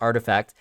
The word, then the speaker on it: RTFKT: the virtual sneaker company artifact uh just in case you guys don't know how to pronounce that rtf rtfkt is pronounced artifact for an undisclosed amount